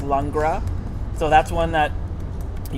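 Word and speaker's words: Langres: called lra it's l n g r s pronounced lra so that's one that you can find every we have every once in a while there's another one called showers showers can we go back to the longra real quick the beauty of longra everybody and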